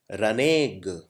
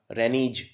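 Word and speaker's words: renege: करना अगला शब्द है रने ग इसको इसका उच्चारण करना बहुत डिफिकल्ट है इसको ऐसे बोलते हैं रने ग अगर कोई पहली बार पढ़ेगा तो इसे ऐसे पढ़ेगा रेनीज कोई पड़ेगा रेनेग्ड रनिग मतलब क्या होता है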